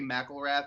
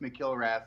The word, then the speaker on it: McIlrath: Yeah, it is McIlrath, but he's a lot of people say McIlrath, but it is pronounced McIlrath like properly.